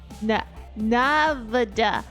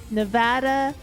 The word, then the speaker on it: Nevada: Nav N Nevada Navada Na Now that's not a real word to me. Nevada. Nevada. That That's not a real word now.